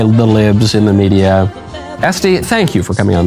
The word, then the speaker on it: Estee: your name I was tempted to pronounce it Este as in louder but it is este yeah no accent so sorry my conversion